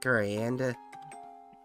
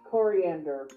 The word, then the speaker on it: coriander: Maybe Gurianda? I said that right? coriander. Yeah. It's pronounced coriander.